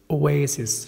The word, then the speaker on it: oasis: oasis. شوف oasis away، شوفوا تقول في الأول away oasis.